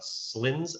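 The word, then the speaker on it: Cylends: where we found uh slins island this is not how you spell slins that's how you pronounce it it's right cy uh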